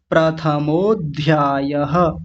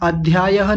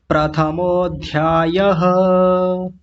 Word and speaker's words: प्रथमोध्यायः: अथ प्रथमोध्यायः अथ प्रथमोध्यायः अध्यायः नहीं बोलेंगे। इसी के साथ जोड़ देंगे। प्रथमोध्यायः ऐसा।